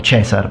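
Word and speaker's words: Caesar: awful and I don't agree actually I think Kaiser sounds a lot cooler than chessar but hey just personal preference I suppose but how do callers know.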